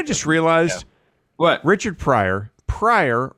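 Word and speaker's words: Pryor: It's, you know, I just realized what Richard Prior Prior rhymes with fire, which is what he set himself on.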